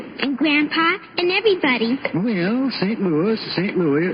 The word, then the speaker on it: St. Louis: Excuse me, Mr. Costello, but it's pronounced St. Louis.